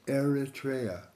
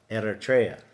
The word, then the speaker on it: Eritrea: itria erria ER how do you say it Eritrea Eritrea erria is in North Africa it's on the